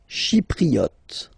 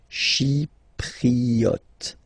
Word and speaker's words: Chypriote: Chypriote. Chi, remember this Y is pronounced like I, okay? Chypriote.